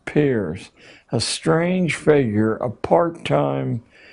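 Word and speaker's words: Peirce: philosopher human history has produced he was it's pronounced Pier but it's spelled as if it were Pierce Charles S Pierce a strange figure a part-time lecturer at Harvard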